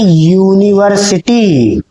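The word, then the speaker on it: university: तो देखिए इस शब्द को क्या पढ़ा जाता है? इसको पढ़ा जाता है यूनिवर्सिटी। यानी इस यू का उच्चारण हो रहा है बच्चों य से। और य एक क्या है? व्यंजन है। या एक कसोनेंट है।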